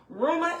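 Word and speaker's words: Reumah: Rumor has it, the name, if you don't know and if you are just learning us as a platform, Ruma is spelled R-E-U-M-A-H.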